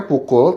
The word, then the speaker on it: PKL: eh sori hajar Sori PKL itu adalah dibacanya pukul tapi singkatan dari pembela